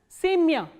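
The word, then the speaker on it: семя: The same way, sa, ye, ma, ya, and the stress is on ye, not on ya. So, ya is in unstressed. So, what happens is it is pronounced as semya.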